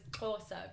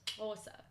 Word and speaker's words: Xhosa: you pronounce Xhosa, which is one of those, is Xhosa because it's XH or SA, so it's Xhosa. Xhosa.